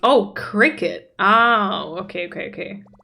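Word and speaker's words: Cricut: yeah make stickers which is amazing and it's pronounced oh Cricket oh okay okay Cricket got it got it oh don't worry CeCe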